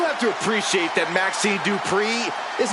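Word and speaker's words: Dupri: Uh, Michael, it's pronounced Dri representing the Alpha Academy from Phoenix, Arizona.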